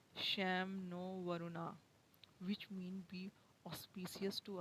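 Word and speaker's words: शं नो वरुणः: Indian Navy contain the motto Sam no Varuna, pronounced Sham no Varuna, which mean be auspicious to us, O Varun.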